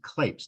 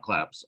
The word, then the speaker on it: Klapes: should point out uh my last name is clapes not claps although in Greek it's clapes yes I've been pronouncing it